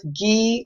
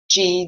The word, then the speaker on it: ghee: a little bit of ghee or g depending on how you pronounce the g-h-e-e um or a little